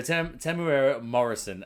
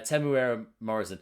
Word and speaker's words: Temuera Morrison: always get it wrong there we go so tim tamara morrison and imagine google's wrong it can't be wrong that's definitely a pronouncer uh temuera morrison i didn't react to uh seeing him as